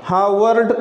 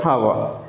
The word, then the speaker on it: Howard: come at the end, we change the R into ha sound. That is the rule regulation of English. So it is better to pronounce this word Elena. Elena Howard. Howard is not right. Hava.